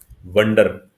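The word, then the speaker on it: wonder: Okay, और एक शब्द अभी आपने पढ़ा, वंडर, वंडर, वंडर। ठीक है, तो आई होप आप दोनों की प्रोनाउंसिएशन ठीक करोगे।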